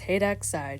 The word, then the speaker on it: HEXide: If you're wondering how to pronounce it, it's Hexside, just like what I said.